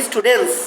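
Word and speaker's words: students: স্টুডেন্টস হয়ে যাবে আবার উচ্চারণটা কেমন হবে সেখানে উচ্চারণটা হবে স্টুডেন্টস কি হবে স্টুডেন্টস স্টুডেন্টস ওখানে এন এর পরে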